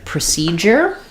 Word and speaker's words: procedure: So in procedure, we have another U that says has more than one sound. We have second syllable stress again, so letters PRO are going to say pr at the start, unlike a word like